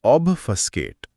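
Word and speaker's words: obfuscate: हां उच्चारण है ऑबस्टकेट।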